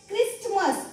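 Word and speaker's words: Christmas: आणि त्यानंतर काही एक्झाम्पल बघा हे काय आहे क्रिसमस क्रिसमस म्हणजे काय नाताळ क्रिसमस म्हणतो आपण त्याला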